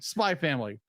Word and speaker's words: Spy x Family: Spy Family. The X is silent.